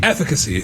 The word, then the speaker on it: efficacy: Efficacy.